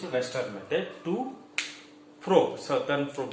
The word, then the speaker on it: Southern: Southern blotting technique.